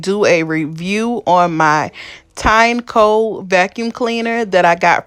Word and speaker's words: Tineco: So I watched the video, and it's actually the Tineco.